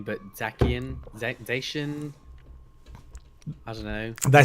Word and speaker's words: Zacian: Say like Zycan, but that's not the right way. It's Zacian. I think Zycan would have been a much better name, but Zacian, Zacian.